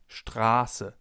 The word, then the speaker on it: Straße: If we have a sharp S, the vowel sound before the S is long. For example, in Straße, Straße, or ich heiße, ich heiße. The vowel or diphthong in this case is pronounced long, Straße.